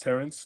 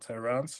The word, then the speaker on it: Terrence: It's pronounced Terrence, not Terrance or anything else.